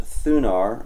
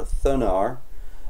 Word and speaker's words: Thunar: I installed using uh I think it's pronounced thunar or thunar um the install was